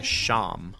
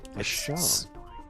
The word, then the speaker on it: shawm: The instrument's called a sham. Sham. It's spelled SHAWM, but it's pronounced sham.